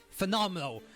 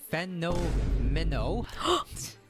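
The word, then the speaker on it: Phenomeno: Okay, so next I'm we're going to talk about phenomenal. Well, that's how I pronounce his name. His name is actually Feno Minnow.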